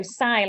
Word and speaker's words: Sai: And the mum was like, you know, Sai, like like trying to say how you sigh. Like that's how you, it's because it's not spelt like that, but that's how you say it.